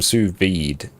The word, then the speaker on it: sous vide: How is sous vide pronounced? Yeah, just as I said, it's sous vide. That is the correct way.